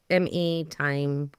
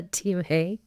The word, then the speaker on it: Time: And I'm telling you, it's spelled like the clock. Time, time clock. So if I accidentally do that, my apologies.